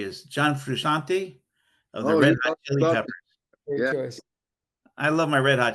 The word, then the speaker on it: Frusciante: Frusciante John Frusciante.